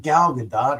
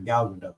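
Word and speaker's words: Gal Gadot: The last is pronounced with a soft t similar to boat or or dotes according to GQ.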